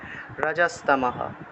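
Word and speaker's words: রজস্তমঃ: তেষাম নিষ্ঠা তুকা কৃষ্ণা সত্ত্ব তয় তয় নিচে বফলা আছে সেজন্য সত্ত্বা মাহু রজস্তমহা, বিসর্গ থাকায় হ উচ্চারিত হয়েছে, রজস্তমহা।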